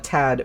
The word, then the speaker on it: Thad: Thad do pronounce it Thad but I was just like I've never met anybody like that it's like most of the time you just pronounce it Tad so that's what I'm